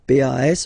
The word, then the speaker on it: pas: Okay, we write it PAS, okay, but as usual, final S is not pronounced, so it's pas.